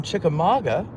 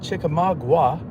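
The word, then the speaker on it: Chickamauga: Eric Houston, hello from Chikamaga. And uh that's how you say it, folks. Not Chikamagua. It's not spelled that way.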